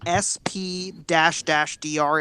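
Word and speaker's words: SP//dr: You guys just pronounce it SP-DR.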